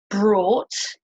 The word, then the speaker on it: brought: So you don't pronounce the G sound at all.